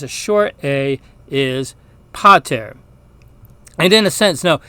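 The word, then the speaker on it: pater: the long a now the short a is a less distinct sound it's more like the first syllable in a word amaze and so the Latin word for father which has a short a is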